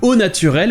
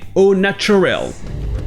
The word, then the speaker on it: au naturel: le prononcer avec l'accent, ici vous avez le mot nature, avec le son ch. Donc au naturel va donner au natural.